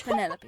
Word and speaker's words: Penelope: is that short for Penelope officially yes but I never can be bothered with all four syllables of it it's Penelope sounds a little ostentatious